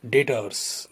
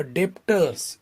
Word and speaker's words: debtors: Next concept, डेटर्स। देखो मैं क्या बोल रहा हूँ, स्पेलिंग है DEBTORS। सो इट इज नॉट अ डेप्टर्स, इट इज डेटर्स। इसमें बी साइलेंट है, ये डेटर्स है।